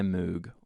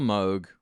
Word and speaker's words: Moog: Hey, this is the DFAM by Moog, or Moog, however you want to pronounce it.